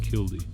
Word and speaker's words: killdeer: You hear that killdeer in the background? Some people pronounce it kildy.